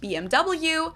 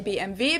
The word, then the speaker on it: BMW: In English, people say BMW. In German, we say BMW because W is pronounced W in German, and it stands for Bayerische Motorenwerke, which means Bavarian Engine Works.